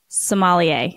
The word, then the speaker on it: sommelier: if I'm saying this right how do you pronounce Somalia is that right you are perfect I got